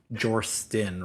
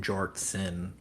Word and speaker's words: Jortsin: Like I still say Jorstin rather than Jortsin all the time.